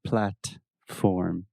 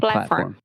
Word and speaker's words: platform: I didn't pronounce the T. Yeah, well, you used what we call a stop T. Yes, exactly. So you did not say platform. You said Platform.